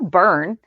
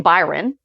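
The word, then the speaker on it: Byrne: So, in harmony's um 411, I kept mispronouncing Neil's last name. It's Neil Burn. I kept saying Byron.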